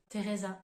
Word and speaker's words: Teresa: pour dire le prénom Teresa en français donc là encore une fois la prononciation du T uniquement on entend pas du tout le H dernier exemple que je